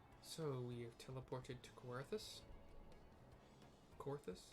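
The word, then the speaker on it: Coerthas: we have teleported to kawarthus Corpus I really want to pronounce it c-o-e-r-t-h-a-s corthus flying through the snow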